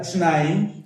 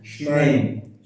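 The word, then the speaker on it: שְׁנֵים: Not Shnaim. Shneim. Shnaim is when it's by itself. When it's together with the word Asar, when it's 12, not 2, it changes its vowelization to Shneim.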